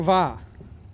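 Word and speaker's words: Via: Va. Spell the last name, though. It is spelled V-I-A.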